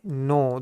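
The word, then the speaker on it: know: आई नो। नो दोस्तों यहां पे जो के है वो क्या है दोस्तों? साइलेंट है। इसका उच्चारण हम नहीं करते।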